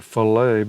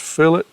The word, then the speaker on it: fillet: where it says edits it's a fillet it looks like filt but I think that's pronounced fillet it creates uh radiuses and